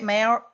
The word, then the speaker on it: Maori: How do you say Maori?